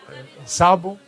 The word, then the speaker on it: sabot: Alors, en fait, sabot, accentué sur la dernière syllabe en occitan, c'est l'ancien nom du lieu d'Arthès.